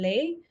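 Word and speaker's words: Leh: The second one that they're building, where I think it must be final now, it must be done is in Lei, which is spelled as L E H.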